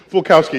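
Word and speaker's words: Falkowski: So, Paul, let me get your name pronounced. Fulkowski. I tried. Fulkowski, yeah, tell us what part of the universe you come from.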